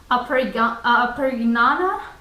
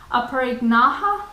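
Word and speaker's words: Aparigraha: And the last one from Yama is Aparignaha. Sorry, I mispronounced it. Aparignaha, which is non-greed, or using only what you require.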